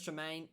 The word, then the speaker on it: Tremain: couldn't pronounce it for a second there. Chris Tremaine, very good.